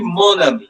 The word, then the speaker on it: mon: Mo it will be moni. It will be m o n. Okay. And and the pronunciation will be moni. It's moni.